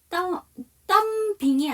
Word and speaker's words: thumbing: thumb에서 B가 묵음이에요. 그렇기 때문에 이거를 발음을 하게 되면 thumbing이 아니고요. thumbing이 아니고요. thumbing이라고 해주셔야 돼요. B가 묵음이기 때문에 M이 넘어가야 되죠.